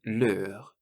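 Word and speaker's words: leurs: And the words for their are leur, and leur. So the plural just has an S on the end, but it's pronounced the same.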